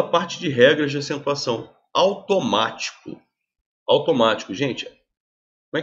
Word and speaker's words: automático: Automático. Automático, gente. Como é que eu separo silabicamente? Automático. Ou seja, a sílaba tônica é a antepenúltima.